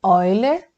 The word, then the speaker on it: Euler: Estou pronunciando Euler porque eu sou brasileira, mas se fala Euler, mas eu vou seguir com Euler mesmo, tá bom?